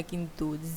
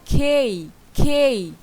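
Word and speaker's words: K: কিন্তু জি জি জি জি হবে।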